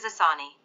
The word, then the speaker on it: Asani: intensified into a cyclonic storm asani pronounced as asani it is very likely